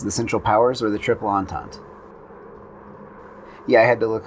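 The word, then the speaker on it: Triple Entente: are two choices the central powers or the triple antons yeah i had to look up that pronunciation as far as the style of planes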